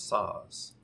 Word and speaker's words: Szasz: ethics and politics of suicide by psychiatrist thomas saws and saws is spelt s-z-a-s-z sam zebra apple sam zebra psychiatrist